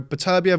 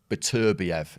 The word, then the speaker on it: Beterbiev: naturally to them, because we put stresses on different syllables in English, and generally speaking, without getting too technical, we're an anti-penultimate language, so we'll put the stress on the third from end. So Beterbiev is what we would say when we look at that word.